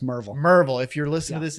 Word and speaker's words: Maryville: there's a there's a small town called uh maryville tennessee it's pronounced merv merville if you're listening to this in east tennessee sorry it's marvel and so if you're a maryville plumber um